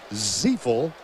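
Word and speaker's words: Ziifle: It's spelled Z-I-I-F-L-E, pronounced Ziefel.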